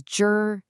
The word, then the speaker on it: 知: So the very first character you see is jur.